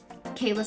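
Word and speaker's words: Cayla: Kayla wolfberg and um Kayla spelled with a c but it's pronounced Kayla for sure I read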